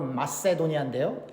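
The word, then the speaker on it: Macedonia: 오늘 본문을 읽어보면 마케도니아 영어로 맛세도니아인데요 발음이 c예요 k가 아니고 어찌됐건 마게도니아 지역에 있는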